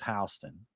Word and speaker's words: Houston: And so we have a Houston County in Georgia, spelled like Houston, but they pronounce it Houston.